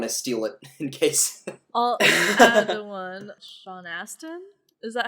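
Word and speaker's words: Sean Astin: i don't want to steal it in case sean aston is that how you pronounce his name yes um the guy who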